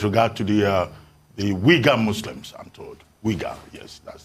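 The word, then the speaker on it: Uyghur: xiang region with regard to the uh the weaker muslims i'm told yes that's the correct pronunciation that is wigar yeah that's it um right so as far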